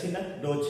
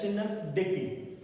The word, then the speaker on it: synecdoche: It is pronounced, don't pronounce it as synecdoche, it is pronounced as synecdoche.